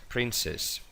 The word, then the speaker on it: princess: Esta C no se pronuncia como una C, sino como una S, princess. O por ejemplo, la palabra príncipe, princess es princesa, que por